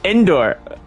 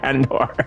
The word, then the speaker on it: Andor: It's so funny listening to the YouTube bot trying to read it. It says Endor. Endor. It can't pronounce it. Andor.